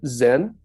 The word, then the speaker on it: Zen: closer to team and then in Japan it's pronounced Zen so same Chinese character same concept same lineage